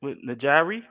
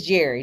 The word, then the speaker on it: Njeri: you thank you Miss najari it's Jerry this is Jerry London sign the end is solid okay well the purposes of this conversation the purposes of knowing my name the end is silent okay okay so we're